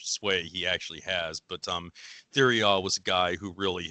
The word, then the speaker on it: Thiriart: it's Thiriart, with apparently the RT at the end being silent.